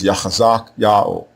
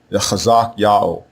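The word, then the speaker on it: חזקיהו: So what the king's name means in this case is Yao will be strong, and the way you pronounce it is Yachazak Yao, Yachazak Yao, Yao will be strong.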